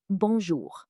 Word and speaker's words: bonjour: The most important greeting is bonjour. Pronunciation?